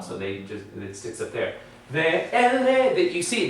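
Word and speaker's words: וְאֵלֶּה: It is this sound here, E-H. It's really just the sounding of that vowel. It's not used like a ha. So it is not considered closed, because say that. Ve-ele. Mouth is still open. So it's an open syllable.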